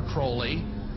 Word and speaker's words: Crowley: to have his name pronounced Crowley to rhyme with holy and uh the satanists